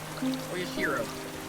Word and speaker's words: Oyashiro: Oyashiro. Oyashiro-sama. Yeah, that's how it goes. It took me a minute to remember the pronunciation.